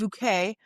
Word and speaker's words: Bucket: You can't say it's and her name is spelled bucket and it's bouquet.